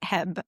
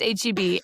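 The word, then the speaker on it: H-E-B: I did have to look up is it pronounced Heb or HB. I when people do pronounce it, it's he he but yeah, it's HB and it's really their their competitor to Whole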